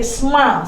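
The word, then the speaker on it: שמע: tapi yang ada adalah shema. Orang sering bilang shema, tapi sma sebenarnya bacanya, ya.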